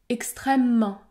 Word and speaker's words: extrêmement: des mots comme dans le mot extrêmement le E disparaît dans ce cas je prononce un m long ou encore la netteté